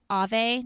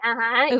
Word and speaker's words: Ove: He's the author of the book called A Man Named Ave. Do you know that book? Uwe. Uwe. Yeah. Yeah, I knew I was going to say it wrong.